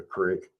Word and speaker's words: creek: people up north that call a creek a crick. You know, what is up with that? Why do they call it a crick instead of a creek? It's spelled Creek. That's kind of a regional thing.